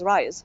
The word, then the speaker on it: R3ISE: an update because um we are now called the rise program the the R3 is still the R3 in there. Just the three is is silent because we um